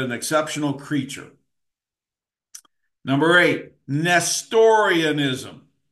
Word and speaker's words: Nestorianism: Number eight, Nestorianism. Let me spell it, big word. NEST, like nest.